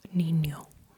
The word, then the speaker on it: niño: But um try to put lay your tongue a little bit more flat flatter than it just for an for an na. Basically, the tip of your tongue is working. But, with you also uh touch the upper part of your mouth with the ridges of your tongue. With the sides.